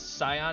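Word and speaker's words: scion: and attributes nothing else that's cion as in I am the cion of a noble person that's why it's spelled with an s s c i o n okay yeah that's C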